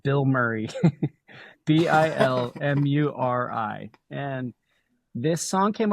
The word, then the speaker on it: Bilmuri: Yeah, it's pronounced Bill Murray, but spelled different. Yeah. Oh yeah, Bilmuri, like you said.